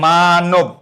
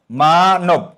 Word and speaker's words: মানব: যায় ও হয়ে যায় শব্দের মধ্যবর্ণের অ সাধারণত উচ্চারণে ও হয়ে যায় যেমন লক্ষ কর মানব মধ্যবর্ণে অ আছে কি হবে মানব মানব হ্যা মধ্যবর্ণের অটা কি হয়ে